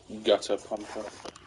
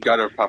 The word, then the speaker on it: Gutter Pupper: Gutter Pumper. Pupper. Not pump. Gutter Pupper.